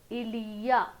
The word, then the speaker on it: il y a: Ilia, okay, like this we pronounce.